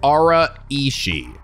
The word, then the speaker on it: Araishi: araishi which okay so you guys did clarify it's pronounced Aura ishi I think all right